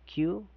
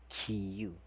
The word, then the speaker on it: queue: Spelling here is Q u E u E. It's called as Q or pronounced as Q.